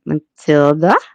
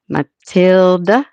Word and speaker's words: Matilda: Matilda. No, Matilda. Yeah, that's it. Get an emphasis on the middle.